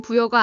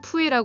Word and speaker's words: 부여: 주장하면 된다는 생각이를 통해 공식적으로 부여를 한국 발음인 부여가 아니라 중국식 발음인 푸에라 불러야 한다 주장하는 것은 덤이다 특히 영어 위키백과 항목의